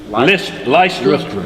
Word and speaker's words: Lystra: And there sat a certain man at, how you pronounce it? Lystra.